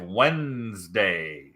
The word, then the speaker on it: Wednesday: 310 LX goes live Wednesday. So why don't we say Wednesday? It's spelled Wednesday, but no one says Wednesday. That doesn't make any sense.